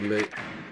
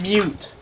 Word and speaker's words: Mute: Yeah, you must have gone into a moot. Proceed to the biohazard container and secure it. A mute.